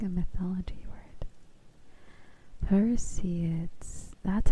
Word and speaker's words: Perseids: Perseids.